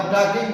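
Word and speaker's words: talking: Were टॉकिंग, बातें कर रही थी। वर टॉकिंग, टॉकिंग नहीं है, L साइलेंट है इसमें।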